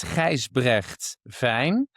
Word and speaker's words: Gijsbregt Vijn: It's Gijsbregt Vijn. It's very Dutch, and the BRGT is like unpronounceable for people which are not living actually in the Netherlands.